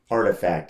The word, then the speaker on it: RTFKT: don't know how you artifact is how they pronounce this oh it's called artifact